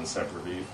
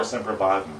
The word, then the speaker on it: Sempervivum: And she became interested in Sempervivum, or Sempervivum, depending on which school of pronunciation you go for.